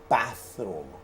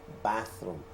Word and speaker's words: bathroom: it several times but when you pronounce th you have to put the tip of your tongue between your teeth and say so you pronounce this bathroom okay bathroom you don't say bedroom